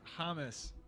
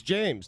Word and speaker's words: James: It's Hamas. It's James to me. Hamas. Well, it's spelled James.